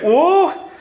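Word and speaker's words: 五: now you know procrastinate in Chinese five is pronounced oh and my mom would come wake me up to go to school and I would say oh and I would put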